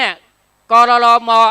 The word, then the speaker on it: กรรม: กรรม ของ เฮ เนี่ย กรร ม อ่าน ว่า กรรม กรรม คือ กรรม กรรม